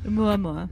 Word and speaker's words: Oumuamua: We might want, I definitely want to practice saying Oumuamua.